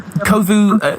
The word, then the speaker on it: Kovu: It's it's Kovu and Danny Jack or Kovu hosted by Danny Jack or whatever. That's right. Right. Right. And um Kovu moving into the kind of DJ sphere like